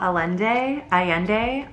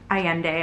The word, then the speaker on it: Allende: I also finished A Long Petal of the Sea by Isabel Allende. Allende, I think is how you say it.